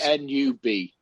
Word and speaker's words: Nub: I think it's pronounced Nub. Yes. N-U-B, Nub.